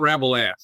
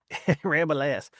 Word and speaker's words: Rabalais: It's Rabalais. The ass is silent, I say. One of those weird French names. It's not Rabelais. Rabalais.